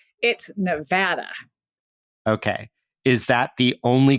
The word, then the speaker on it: Nevada: about linguistic tolerance but is there a preferred way to do it yes and Nevada is that way if you're from Nevada you know you say Nevada okay so let me